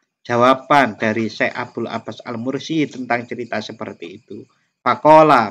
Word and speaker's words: Al-Mursi: Abul Abbas Al-Mursi atau kadang orang membacanya Al-Marsi niku gurunya Syekh Ibnu Athaillah yang ngarang kitab Al-Hikam.